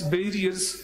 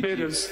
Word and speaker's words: bearers: We are supporting in this sense that these office barriers join other political parties. Bearers, please pronounce it correctly. Bearers.